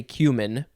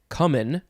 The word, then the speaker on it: cumin: first used next is well i say cumin but you can also say common or cumin cumin cumin it's spelled c-u-m-i-n noun